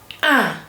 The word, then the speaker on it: un: I and N combined together, or I and M combined together, gives you a nasal vowel that is un.